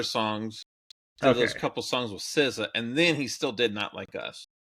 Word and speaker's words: SZA: SZA. I was expecting. That's how you pronounce that? Yeah. Okay. Like RZA and Jizza from the Wu-Tang.